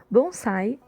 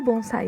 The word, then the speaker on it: bonsai: O termo bonsai em si é uma pronúncia japonesa do termo chinês anterior, Penzai.